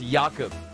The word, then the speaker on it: Jakub: from uh are you are we pronouncing it yaakov i know in the pre-game he came in here asking for a different presence i believe it's jakub apologize for the pronunciation but we've got it sorted now and this is